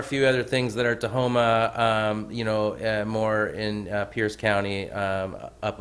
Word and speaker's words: Tahoma: Every time I see how you say it, I still see Tacoma in that word, and it's Tahoma.